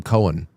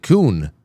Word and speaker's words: Coen: He, for the last at least year and change, has allowed me to call him Cohen. Because you spell his name Coen. Right. But you pronounce it Kuhn.